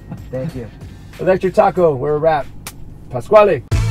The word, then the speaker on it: Pasquale: I say it right it's the squall a Pasquale Rotella but people see as well that's why